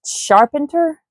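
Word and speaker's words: Charpentier: It looks like carpenter, but it's sharpener.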